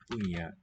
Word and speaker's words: punya: Punya apel. So here it looks like a cluster, punya, but that may just be a single sound. Nya, as in Spanish, señor.